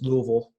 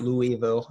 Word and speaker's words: Louisville: north of Louisville and it is two syllables its Louisville not Louisville so I learned that